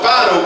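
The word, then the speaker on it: Phideaux: So he stepped down in my boat and my dog, Fido, growled at him. Now, Fido's my retrieving dog. You spell that P-H-I-D-E-A-U-X, Fido, see?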